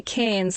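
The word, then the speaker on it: Cairns: So in Australia the accent with the accent we say cans like cans of tomato soup.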